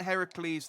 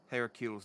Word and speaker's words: Heracles: hercules is the roman pronunciation here isn't isn't heracles the greek pronunciation the hydra was the